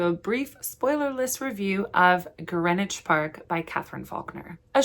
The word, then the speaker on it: Greenwich: we'll get into a brief spoilerless review of Greenwich Park by Katherine fauler a short aside in my last video I did call it green witch Park um cuz I'm an idiot I have